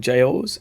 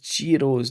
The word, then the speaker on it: gyros: restaurant to order some gyros and some girros and a free glass of wine. Oh yeah, girros. That's Greek food I think. Right. And you pronounce it girros not gyro I think.